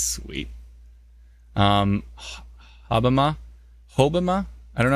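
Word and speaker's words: Hobbema: Hobima.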